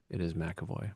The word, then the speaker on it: McEvoy: My last name is McEvoy. I know it's not pronounced the way it's spelled, but it is McEvoy.